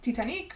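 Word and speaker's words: Titanique: on board the Titanic that is why it's pronounced tianic because it is like Selena saying it and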